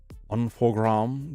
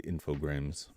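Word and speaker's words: Infogrames: to satisfy me also infograms is pronounced unog because it's French I knew it was French but I never imagined it would be pronounced that way I don't know why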